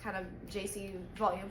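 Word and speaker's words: Djesse: I keep calling it DJs volume 4 but I looked at what that word means and they said it's because it sounds like the artist's initials which are JC so he just wrote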